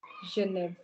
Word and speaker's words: Genève: But on the other hand, you have GE, which is sounded as je, not as g, but as je. So you have to pronounce this as je, and likewise, this should be pronounced as Genève.